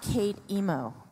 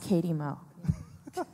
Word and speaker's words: Katie Mo: It's not Kate Emo. It's pronounced Katie Mo.